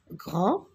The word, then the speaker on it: grand: qu'on ne prononce pas grand regard des je n'entends pas d et pourtant je l'écris temps ps je l'écris